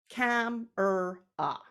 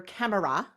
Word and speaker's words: camera: out our syllables together, we would clap out 3 syllables. Cam-er-ah. No one on earth goes around talking about their camera when they're going to take pictures. It's the camera.